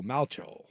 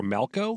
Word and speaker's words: Malchow: They're saying it's pronounced like the replacements quarterback Shane Falco, so Malcho. Or Malco?